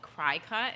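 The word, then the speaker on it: Cricut: I think it's called Cry Cut, is what I'm told. Really? Everyone says look, cricket. It is a cricket. But it's spelled Cry Cut.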